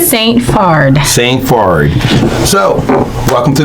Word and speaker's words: Saint Phard: Saint Phard. If you were to say it in Haitian Creole, it would be Saint Fa.